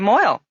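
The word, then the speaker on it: mohel: Well, that's sort of the definition of moil, is it not? Moil, which is spelled M-O-H-E-L, is really a Yiddish word which has come into common usage in English.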